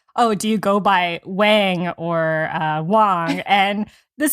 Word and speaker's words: Wang: my husband always said Wang so I said Wang and it's spelled with an A and I discovered that if you I say it's Wang which is the correct Mandarin pronunciation people spell it with